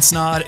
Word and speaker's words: Snod: my name is snod it rhymes with odd and welcome to the